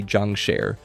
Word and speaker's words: jiangshi: They call them jiangshi, pronounced roughly jiang shur, which comes directly from Chinese folklore about hopping vampires and restless corpses.